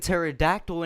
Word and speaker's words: pterodactyl: of it you don't bounce you you don't pronounce the P and pterodactyl and you don't get rid of the P